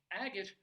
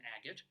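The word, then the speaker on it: Agate: like the letter A so maybe back in the day they pronounced it a gate Colorado or a gate Colorado because it had a gate honestly I'm not making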